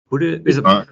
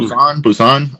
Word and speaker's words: Busan: Well, the most recent one was the Train to Budokan? Train to Budokan? That's a Korean. Busan, I think it's pronounced.